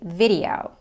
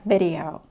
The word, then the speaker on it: video: Now I can hear that it's weird, but yeah, at the time I didn't even realize this, that you should say video, not video.